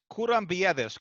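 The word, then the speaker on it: Kourabiedes: Yeah, it's pronounced Kurambiedes.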